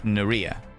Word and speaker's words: Naraya: And by the way, another Naraya, pronounced like ear in T. Thanks for your patience. Naria. T. I is pronounced like the E and T.